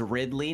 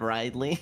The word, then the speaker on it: Ridley: to correct your pronunciation it is Ridley not rightly listen here listen here